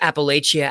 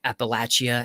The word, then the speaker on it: Appalachia: ground um almost those Appalachia appal Appalachia Appalachia I heard it pronounce both ways I grew up seeing